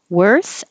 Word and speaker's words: worth: to the Y billiard worth and word are a good combination because they're both spelled with o but sound like e they sound like er were like where were you